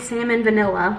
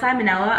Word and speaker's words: salmonella: Don't wanna get salmon vanilla. I know it's salmonella, I just think it's funnier pronouncing it salmon vanilla.